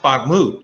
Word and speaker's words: Bakhmut: On the battlefield, they are making waves that salt mining town, Bakhmut, let's see, it's pronounced Bakhmut, yes.